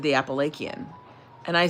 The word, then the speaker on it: Appalachian: No one in Appalachia uses a hard C. No one. It's a it's a soft, right? It's a soft C. It's like sh. It's Appalachian. And he was saying it was Apple and I'm like, "No, it's not."